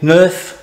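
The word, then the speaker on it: Knauf: How do you spell it? K-N-A-U-F, Nerf. Not like Nerf guns, but the Nerf plaster coving.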